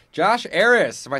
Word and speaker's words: Arras: Josh Aris.